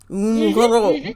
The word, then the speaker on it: robe: So we have une robe, and we do pronounce the B there.